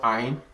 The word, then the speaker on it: عين: letters are so we have what is called Ain, and this is spelled as Ayn.